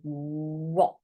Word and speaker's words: what: But we don't say this H sound in the middle. We say what, and the A is saying oh, what.